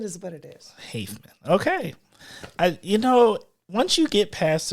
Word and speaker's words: Haffeman: Haffeman is what it is. Haffeman.